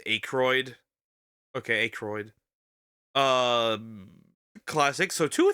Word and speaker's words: Aykroyd: Pronounced Aykroyd.